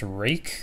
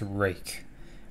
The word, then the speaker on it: RUIKE: This is by a company called RUIKE, and it is pronounced RUIKE. I've looked it up multiple times. I went to their website. It is pronounced RUIKE.